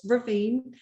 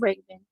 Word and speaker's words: Raven: um got lakita from indianapolis hi it's ravine and am i pronouncing your name raven is it raven or ravine it's raven raven okay okay and i